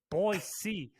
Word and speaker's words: Boise: like what you me why everybody's saying Boise boy C it's Boise he's like just cause it's an S doesn't mean you say uh you have to say it like that he's like you don't